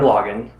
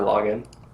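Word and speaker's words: Lagann: yeah g Lan's amazing is it pronounced on or log in log in I think yeah in the dub they pronounce it log on like you're logging on to a website who's logging on to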